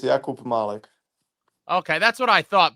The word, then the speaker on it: Jakub Malek: So it's Jakub Malek. Yeah, it's Jakub Malek.